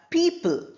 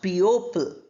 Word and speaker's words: people: Then we have people, not people.